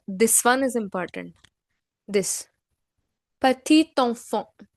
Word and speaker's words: petit enfant: Here, the last consonant, this T in patit, is being read. Why so? Because the next word which is enfant, it begins with a vowel. So in that case, we pronounce the last consonant of the previous word.